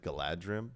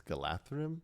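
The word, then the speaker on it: Galadhrim: Like I I learned that uh I always said Galadrim, but it's Galatham.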